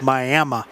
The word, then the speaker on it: Miami: But it's Miami. That's right. Not to be confused with how you normally spell or normally pronounce the same spelling.